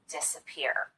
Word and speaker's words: disappear: not quite as noticeable an example of secondary stress would be the first syllable in this word disappear we do spend some time on this syllable and we do make the vowel louder and longer but not quite as much as we do on this last syllable the third syllable peer if both of these